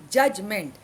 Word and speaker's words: judgment: Here D is silent. Judgment. Though D comes in the spelling, it is not pronounced.